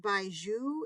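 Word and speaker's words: 白术: These are white atractylodes, pronounced baiju in Chinese.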